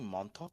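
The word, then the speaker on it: Montauk: It's actually it's actually Monttok.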